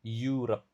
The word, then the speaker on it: Europe: Europe cara pengucapannya. Ingat jeda videonya ya kalau menemukan kosakata baru yang susah dan catat cara bacanya. Europe. Bukan Europe, tapi Europe.